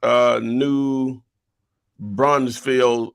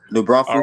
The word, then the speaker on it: New Braunfels: Yeah, East Commerce, and the other one is North New Brunsfield Avenue. New Braunfels, right. New Braunfels Avenue, yeah. Okay, yeah, pronounce it right, for you know I can't read.